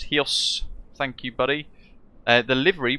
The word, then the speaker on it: Chios: Vagelis, hello, pronounced Hios.